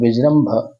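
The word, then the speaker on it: विजृम्भण: comma फिर अब देखिए वि ज नीचे रखा आ रहा है फिर वि ज पूरा नहीं बोलने की जगह विज्र तो विज्र विज्र बोला और फिर आगे म और भ है आधा म है तो विज्रम भ अब और आगे पढ़ने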